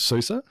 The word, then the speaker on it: SUSE: you currently working somebody for a company called Susa s-u-s-e because we get asked a lot how